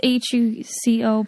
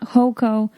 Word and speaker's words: Huco: hugh who called yeah it's huco people always write that on facebook too they're like hoco it's not hoco it's hugo yeah like haron